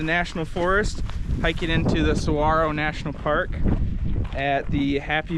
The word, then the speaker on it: Saguaro: Little fun fact for you viewers at home, Saguaro National Park is actually pronounced saguaro. The G is silent.